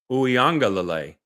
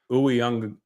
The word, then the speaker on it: Uiagalelei: So if you're going to use the emphasis, Uiagalelei. So I'm putting the wrong emphasis on the wrong syllable.